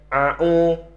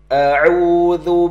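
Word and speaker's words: أعوذ: Ya, kami ingatkan kembali kepada sahabat-sahabat semuanya bahwa bacaan ta'awudz itu yang pertama adalah huruf A. Kemudian huruf A ya. Ini huruf A dan A itu harus berbeda, ya tidak sama. Atau nanti sahabat membacanya a'u, gitu kan, ain dua-duanya. Atau mungkin sebaliknya, dua-duanya huruf A, a'u. Nah, ini salah ya.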